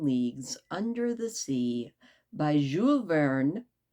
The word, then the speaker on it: Jules Verne: So, I think I can guarantee this is a twochapter night in 20,000 Leagues Under the Sea by Jeul Vern. I was told not to pronounce the S.